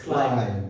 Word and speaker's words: climb: No, so B here is a silent consonant. Yes. Climb. So it's climb.